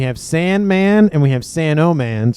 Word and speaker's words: Sanoman: So we have Sandman and we have Sanoman. So hopefully I will pronounce the O in Sanoman so I don't confuse myself and everybody else watching.